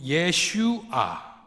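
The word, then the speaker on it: ישוע: 아히 이렇게 예슈 예슈아 이렇게 되어 있습니다.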